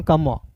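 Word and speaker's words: calm: ए एल एल एम है तो यहां देखिए सी का क ए का आ एम का म काम पी ए एल एम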